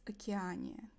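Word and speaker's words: Океания: In In Russia, it's Okeaniya. Because ocean is okean.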